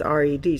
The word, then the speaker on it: read: one right and and the funny thing about that word red is that it can also say it can all be also be pronounced read and that's the present if I read today but I read it yesterday and yet it's it is spelled the same way so red and red